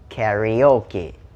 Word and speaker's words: karaoke: อ ก เ สี ย ง ว่ า karaoke แ ต่ ถ้ า เ ป็ น ส